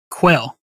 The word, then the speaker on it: Quayle: today did i say quail it's pronounced like the bird quail nice okay good that